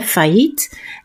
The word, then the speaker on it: failliet: En de L, die dubbele L, wordt uitgesproken als een J. Failliet. Failliet. Dus die I hoort je niet. En deze IE hoort je eigenlijk ook niet, want je hoort een korte I.